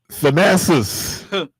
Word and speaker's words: Thanasis: Thanasis.